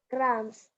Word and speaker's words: crumbs: The waiter cleaned the crumbs of the table. Crumbs. B is the silent letter.